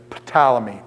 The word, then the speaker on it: Ptolemy: scholar and dave says potala me potala me he pronounces the P I do it more like pneumonia where than the P goes silent so I'd say Ptolemy so I've heard it